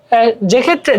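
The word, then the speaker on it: যক্ষ্মা: তারপরে সাধারণত যুক্ত বর্ণের সাথে কোনো ফলার উচ্চারণ হয় না, যেমন যক্ষা, বন্দ্যোপাধ্যায়, এই যে দেখো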